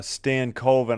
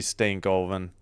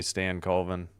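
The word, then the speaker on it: Stankoven: I used to stay stank coven and then I realized I'm like, "Oh yeah, it's probably Stan Coven."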